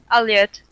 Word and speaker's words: Aliette: Yeah, I want to make sure I'm pronouncing it right because I wasn't sure if it was Aliette or Aliette. Aliette.